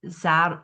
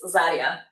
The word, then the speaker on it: Zarja: And um Zara Zara Zara I don't know how to pronounce I'm sorry say again. It is Zarya.